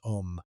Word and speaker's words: Om: The most widely known Biya is Om, also written as AUM. The syllable is composed of three sounds, A, U, and M, that together produce a specific acoustic envelope when uttered correctly.